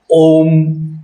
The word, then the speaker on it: ओम: कभी ओमकार को आकार कहा गया है? या किसी मंत्र से पहले आप बोलते हैं आकार नमः शिवाय या आ नमः शिवाय। हम कभी मंत्रों का उच्चारण करेंगे तो ओम नमः शिवाय, ओम की ध्वनि ही ठीक है, जिसका उच्चारण है ओम ओम।